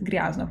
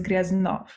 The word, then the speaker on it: Gryaznov: I said Gryaznov, but it's Gryaznov. Okay, it's very good to know how to correctly do it.